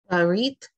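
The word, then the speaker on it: ברית: So what the Shiva is telling you when it's used as a vocal Shiva is you hurry the pronunciation or you shorten the pronunciation. Don't make the long ah sound.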